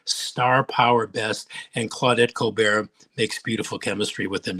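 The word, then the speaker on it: Colbert: not the most well they pronounce it the same coar that's why I wonder the yeah the coar report I don't know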